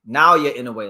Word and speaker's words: Naoya Inoue: we get into uh NAA inway Nowa inway let me say the pronunciation right because this is one